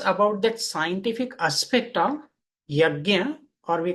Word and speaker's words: yajna: So this is from the Sanskrit word yajna. What is yajna? So here we can see the two syllables, ya and gya.